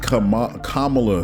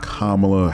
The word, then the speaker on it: Kamala: the next thing uh VP comala excuse me let me say her name right Kamala Harris uh this is